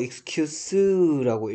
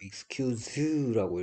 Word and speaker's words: excuse: 얘를 뭐 excuse라고 읽으면 명사가 되고요, excuse라고 읽으면 동사입니다.